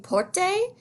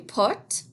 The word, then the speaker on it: porte: Sometimes people pronounce this une porte, and that's not really correct. That E is silent. Same with this, une fenêtre. So we say une porte, and une fenêtre, une fenêtre.